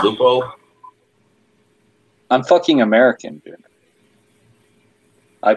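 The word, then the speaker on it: Leupold: Aren't they pronounced Lupo?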